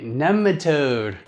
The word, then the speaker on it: nematode: And that's the correct way. All right, nematode.